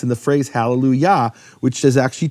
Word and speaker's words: hallelujah: And what happens because of that is the kamat of Yah, which Yah is always the emphasized syllable, it's hallelujah, that then shifts to a shva, or vice versa.